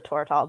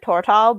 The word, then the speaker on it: Tortall: I was actually just thinking I should reread like all of the Tortall books. How do you pronounce that? Because I always said Tortall, but I was like, I feel like that sounds awkward.